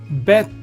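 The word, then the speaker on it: ב: Bet is pronounced as in boy, b sound, or v sound, depending upon, I will explain what is it dependent upon.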